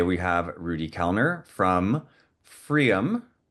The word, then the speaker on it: pFriem: And today we have Rudy Kellner from pFriem. pFriem? It's no, you don't say the P, right? No, it's Freem, rhymes with dream.